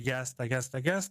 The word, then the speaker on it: Jasta: Las jastas, donde se escribe yasta, es una contracción de Jack Staffel, literalmente escuadrón de casa.